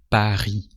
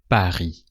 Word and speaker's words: Paris: Tu viens de Paris. And that's it. And you don't pronounce the S of Paris either because the S is the last letter and it's a consonant, so you don't pronounce it.